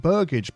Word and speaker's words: burgage: the moment so we need to build some burgage plots I've looked it up that's how you pronounce it so let's get rid of that